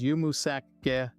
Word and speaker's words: yumuşak ge: It is pronounced as yumuşak ge. This is a uniquely Turkish letter, and it doesn't have a direct English equivalent. It's often referred to as the silent or soft G. When it comes after a vowel, it lengthens that vowel sound.